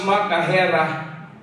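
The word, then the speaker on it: machaira: Let's pronounce makahera. Makahira.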